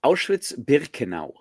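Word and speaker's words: Auschwitz-Birkenau: like little uh Max says, "Yeah, having visited Ashwitz Burkan. Can do you know have a better pronunciation for that, Ref? Did I pronounce it right?" Um, you pronounce it Awitz Burkenau.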